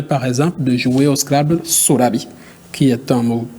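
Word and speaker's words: Scrabble: francophone vous pouvez dire pronon après moi SC scrable est-ce qu'il prononce bien SC oui il prononce bien après les anglopes vous dirons scrble voilà ok voilà est-ce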